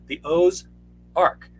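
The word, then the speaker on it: aux Arcs: Beautiful forested country, and here's this forest signs, the O's Arc, AUXARC, two French words. And what happens is you kept calling it that, but hillbillies didn't know how to spell. Right. So OZARK.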